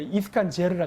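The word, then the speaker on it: Искандер: 이때부터 이스칸다르. 저는 이제 러시아에 있었기 때문에 이스칸제르를 하겠다. 이게 이스칸제르라 그래. 원래 러시아 발음은.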